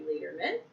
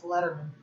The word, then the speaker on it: Lederman: On the table, I have Miss Annie Lederman. It's Letterman. Is it? Yeah, it's Letterman. But what? It's pronounced Letterman, but then my dad told me recently that my grandfather pronounced it Lederman.